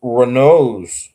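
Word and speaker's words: Raynaud: Whenever I looked at that pronunciation thing, he pronounces it like Reno.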